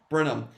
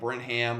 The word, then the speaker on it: Brenham: always mess it up brenham he's at uh burnham high school in texas i always mispronounce it i always go on call like brent hamm or something it's like whatever um